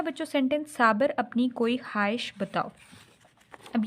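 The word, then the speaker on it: خواہش: काफ वाव हमज़ा छोटी ये, साबर अपनी कोई ख्वाहिश, हे ज़बर वाव अलिफ हे शीन, ख्वाहिश बताओ, बे ज़बर ते अलिफ वाव बताओ, साबर अपनी कोई ख्वाहिश बताओ।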